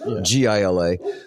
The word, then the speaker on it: Gila: The I think it's pronounced Hila Gila. I don't know. Right. Gila. Right. So, we come out of